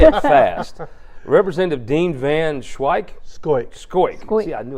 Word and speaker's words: Van Schoiack: Van Schoiack.